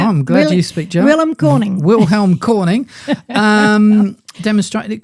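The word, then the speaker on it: König: a German scientist called Wilm Helm Cornig uh Corning is how you would say is how you say is it Corning oh I'm glad you speak German Corning Wilhelm Corning um demonstrated it could generate some uh voltage.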